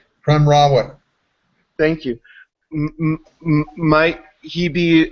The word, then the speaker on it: Prem Rawat: I don't imagine that I will, but I'm curious about the and pardon me if I'm mispronouncing the name, but Primwat? Prem Rawat.